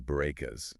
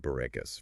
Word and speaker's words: Bourekas: of pronouncing the name Bourekas for non-Hebrew speakers. Right. I loved her comparison to saying boo like a ghost, followed by Ray, like in the name Renee, and ending with Cass like Cassidy.